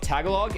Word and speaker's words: Tagalog: Yo, Tagalog is pronounced tagalog. Tagalog. Tagalog. Tagalog. Tag. Is it ta or is it tag? Tagalog or Tagalog. Tagalog. Tagalog. Oh, Tagalog. Tagalog. Ah, there you go. Now we got it. See, we learned.